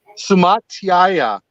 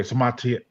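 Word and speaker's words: Suamataia: How you pronounce it? Sumatiaya. Okay, Sumatiaya.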